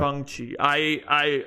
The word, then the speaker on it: Shang-Chi: Well, because we're white guys, I pronounce it Shang because. Yeah. Well, it's yeah. I think he, like he said in the movie, I think it's pronounced Shang. Gong. Like gong, but Shang.